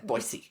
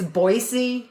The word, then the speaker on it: Boise: and they're like no I was saying Boise and they were saying it's boisey it's an S not a z boisey boyy or the